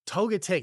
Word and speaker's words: Togetic: And I don't know how you pronounce it, so I might even say it wrong. I think Togetic. it's Togetic. Yes, yes, Togetic.